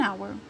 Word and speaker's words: hour: vogue out don't say thank you sir an hour an hour in this case how to pronounce this word hamburger hamburger you pronounce the